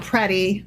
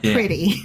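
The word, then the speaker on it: Pretti: Anyway, number three, Alex Prey, and his name is pronounced Prey, not pretty.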